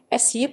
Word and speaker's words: Suippe: suep the suet french pronunciation essiup is an 81.7 km 50.8 my long river